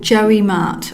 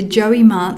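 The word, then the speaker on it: JioMart: WhatsApp shopping integration called Joey Mart I think that's how you say it it's j i o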